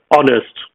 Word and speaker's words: honest: and habit and heritage, originally they were pronounced without the H. So herb, habit, heritage, the same way as we pronounce the word honest, right? Honest, honesty, honor, and so forth still.